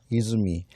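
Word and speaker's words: 出水: 근데 이거를 어떻게 읽을까 했더니 보니까 이즈미라고 읽네요. 이즈미.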